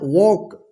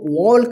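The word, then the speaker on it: walk: के, इसको क्या पढ़ेंगे, देखिए के से पहले क्या आया है एल आया है ना, तो इसको क्या पढ़ेंगे वॉक, वॉक पढ़ेंगे, ठीक है ना। वॉक इस तरह से रहता है इसका हिंदी वॉक, ठीक है, वॉक, ठीक है ना। वॉक, इसको वॉल्क मत पढ़िएगा, वॉल्क, ठीक है ना।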